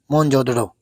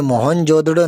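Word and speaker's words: मोहनजोदड़ो: यहां क्यों जिक्र कराऊ इतिहास में नाम आता है मोहन जोदड़ो लेकिन यह मोहन जोदड़ो नहीं है इसका सही जो उच्चारण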